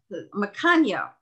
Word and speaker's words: Macagno: Yes, it's from Italian. Oh, okay. Because I thought he corrected us in the opposite direction. Macagno. Okay.